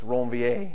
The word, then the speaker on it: Ranvier: If you go back to the original pronunciation, it's Ranvier, if anybody cares.